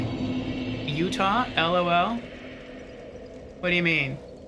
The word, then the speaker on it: Utah: no you're saying utaha it's like Utah two syllables and I'm like well I I've always said it as utaha so I just keep saying it that way that's how I first heard it pronounced and so that's just how I pronounce I thought I was